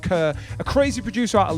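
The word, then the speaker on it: KRR: K-R-R, but pronounced Kerr.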